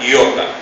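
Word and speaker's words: iota: i de nosotros la i latina Entonces se pronuncia yota la yota y y la intención es ni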